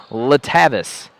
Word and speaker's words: Letavis: the game started but one of the coaches said it is letavis being patient with the